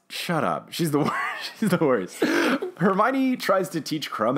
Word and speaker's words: Hermione: it seem like he was saying her me own instead of Hermione and then he keeps